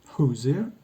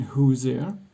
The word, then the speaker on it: Hoosier: The S in Hoosier, by the way, is often but not always pronounced j, as in leisure or measure.